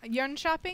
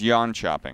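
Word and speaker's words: Jönköping: Yonshop or Yonshopping? It's yawn chopping. I think it's more like yin shopping.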